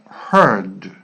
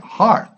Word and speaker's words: heard: are combination learn heard be careful with this combination because many people when they're learning they try to pronounce like heart no now hard part is something else heart the